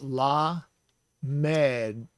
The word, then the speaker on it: lamed: So that is la med, lamed. And it's spelled in English L-A-M-E-D.